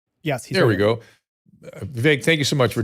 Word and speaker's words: Vivek: You can follow Vivek Ramaswamy at Vivek, VIVEK Ramaswamy, just as it sounds phonetically, on X, Vivek G.